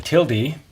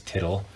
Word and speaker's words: tilde: A tilde, which oddly enough Mr. Rodriguez pronounces tittle, is negation.